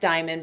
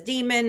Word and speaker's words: Deiman: I realized my last name is Deiman. It's pronounced Diamond, but everybody says Demon or Derman or Delman.